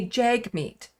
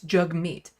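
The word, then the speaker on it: Jagmeet: pronounce his name and he does this cutesy little thing to say it's jug like hug which is kind of adorable so jug like hug and meat so it's jug meat Pierre POV knows how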